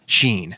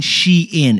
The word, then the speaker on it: Shein: this year what do we got the most mispronounced word of this year was the Chinese shopping app Sheen Oh you mean shein it's actually shein that's what they said yeah